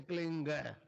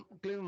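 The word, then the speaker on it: क्लीं: बिंदी इसकी ध्वनि निकली ग से क्लिंग क्लिम में नहीं संस्कृत में क्लिम होता है नहीं क्लिंग अंग का उच्चारण होना पड़ेगा एक क्लिंग को जपने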